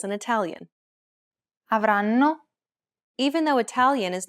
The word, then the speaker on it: avranno: In most Italian words, the stress falls on the second to last syllable, so you'll need to pronounce this a tiny bit longer and louder than the other syllables, but not by much.